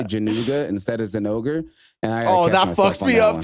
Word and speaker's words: Zinogre: I say Jinouga sometimes as well, and I sound weird as fuck because it's definitely Zinogre, like it is.